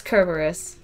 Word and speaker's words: Cerberus: not cerberus you could it's kerberos it is literally kerberos trust me trust me